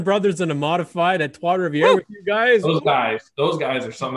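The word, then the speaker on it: Trois-Rivières: Trace Rivers. Trois Rivières. Yeah. Oh yeah. So like, wouldn't that be a badass mod? Oh man, we got the Dumoulin brothers in a modified at Trois Rivières with you guys.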